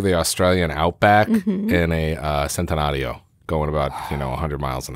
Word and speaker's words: Centenario: 3, the Lamborghini Centenario, because you have to pronounce Italian, Centenario. I actually had to rehearse this, because when I knew what it was, I had to sit down.